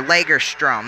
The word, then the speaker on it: Lagerstrom: Alright, at least or Lagerstrom, that's how you pronounce it.